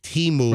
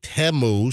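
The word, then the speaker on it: Temu: Teu and you know, everyone wants to say Teimu, but you know, during the Super Bowl they pronounced it Teu, so I'm assuming that's the way you pronounce it.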